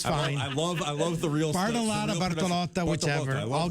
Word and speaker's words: Bartolotta: Chef Paul Bartolotta. Yeah, or Bartolotta, whichever, it's fine. I love the real Bartolotta, Bartolotta, whichever.